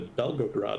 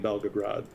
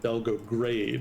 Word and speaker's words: Belgorod: And I've previously mispronounced it Belgograde, and I think somebody in chat bitched me out because they thought I was talking about Belgrade, which is a completely different thing.